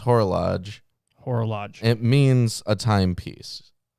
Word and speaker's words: horologe: it's horologue is an archaic noun and it's pronounced horologe horological it means a timepiece gotcha okay so